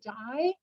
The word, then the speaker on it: Dai: bottom the corpse of the tomb occupant, Lady Dai, pronounced D-A-I or spelled D-A-I, and her apotheosis, her